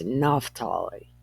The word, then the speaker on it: Naphtali: I don't remember if this name becomes Ne, because Naphtali is how I've heard it pronounced, and that's Ne. But this is Naphtali, or Naphtali. No, it's Naphtali.